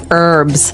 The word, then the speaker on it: herbs: English it's more commonly the it's more commonly pronounced as an a silent H. That's right. Herbs.